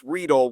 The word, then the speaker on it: Riedel: And he told me Reese Riedel, which I did not. It was kind of like Kelsey, right? Where it's technically Kels or whatever.